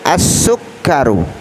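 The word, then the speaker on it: السكر: Berikutnya as-sukkaru. As-sukkaru, sin ini kira-kira huruf apa saudaraku? Huruf Syamsiyah. Makanya cara membacanya langsung, alnya tidak boleh kita baca dengan jelas.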